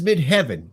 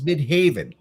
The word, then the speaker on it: Midheaven: got breaker Instinct in midhaven and it says mid heaven but it is midhaven yeah who did that what the [ __